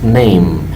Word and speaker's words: name: Aunque veas que termina con una E, la E no se pronuncia, pero la M sí, decimos name.